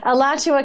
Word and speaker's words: Alachua: i mean can you tell us the proper pronunciation of that county yeah alachua county uh which is i went to the